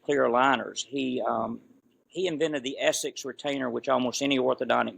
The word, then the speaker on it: Essix: He invented the Essex retainer, which almost any orthodontic knows, and they spell it ESSIX, but it really is S to the 6th power, which stands for Sheraton Superior Stability for the Social 6.